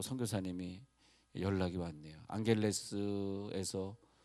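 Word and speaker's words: Angeles: 에 이번주 간에도 필리핀에서 또 선교사님이 연락이 왔네요 앙헬레스 에서 아 뭘 앙헬레스 암 쥐 발음이 gh 발음 나니까 우리가 모르고 앙겔라 애써 면접을 안경 해서 그 사람보다 당했었는데 앙헬레스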